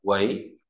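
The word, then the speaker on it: 囗: Tiếp theo tôi viết bộ vi nó về bao bọc đọc là quấy sổ này ngang gập móc ngang đọc đọc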